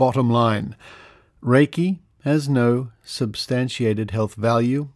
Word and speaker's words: Reiki: Reiki, pronounced Reiki, is an extremely gentle yet powerful method of healing using the, quote, laying on of hands, end quote, method.